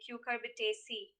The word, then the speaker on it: Cucurbitaceae: c unlike malwa ca the right pronunciation of the given word would be cucurbitaceae moving on number please